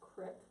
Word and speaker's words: creek: The landscape is hills, bays, creeks, which I know I'm supposed to pronounce crick, and enormous boulders left behind when the glaciers of the last ice age receded.